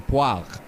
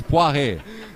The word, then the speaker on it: Poiret: He's not a pear, not a poire. It's Poiret. So I said it right.